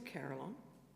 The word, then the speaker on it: Carillon: And secondly, is that really how you say it? To answer the second question first, yes, that is actually how you say it. That's how it's spelt, and that's how the National Carillionist pronounces it.